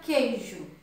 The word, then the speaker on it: queijo: E na palavra queijo, o QU é um dígrafo porque eu não pronuncio o U, porém ele é um